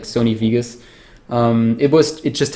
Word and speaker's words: Vegas: to use Sony Vegas Vegas I I'm I'm really trying my best to not say wus but try to pronounce the V properly like my my almost my Infamous wean I guess Sony weas and yeah cheesy sounds